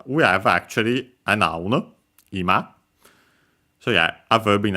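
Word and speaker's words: 今: Yeah, this one is clearly simply ima accented on the first uh mora the first syllable uh which means now now the present time uh and so on.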